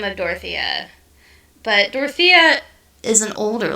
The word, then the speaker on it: Dorothea: a bad bit there dora oh so it is spelled d-o-r-o-t-h-e-a for our listeners dorothy yeah dorothea wow and